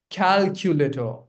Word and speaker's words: calculator: If the even if the product is 4,000 reasonable reasonable calculator hal No, not later for sure. It's Drop this O sound. Calculator. Calculator. Calculator.